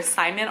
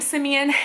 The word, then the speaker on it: Simeon: lot of people will call him either Simon or Simone. I didn't realize how uncommon his name was until after he was born, and nobody can pronounce it.